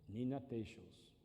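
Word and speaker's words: Nina Teicholz: Ded as play, um bioque, um cientista, né, que investe em Oi, Nina Toss. Nina Tos. Nina Tos. Essa é a pronúncia.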